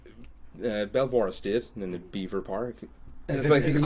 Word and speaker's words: Belvoir Park: I just recently found out there's a place near me called, well, it's spelled Belvoir Park. Beaver Park. It's no, there's an L. The L needs to be respected.